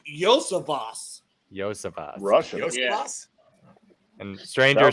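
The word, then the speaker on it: Iosivas: I would pronounce it by looking at it Iosovas, Iosovas. but it's Yosavas.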